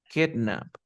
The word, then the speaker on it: kidnap: Se pronuncia kidnap.